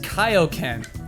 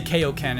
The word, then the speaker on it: Kaioken: We mispronounced Kaioken. We always say Kaioken, it's Kaioken.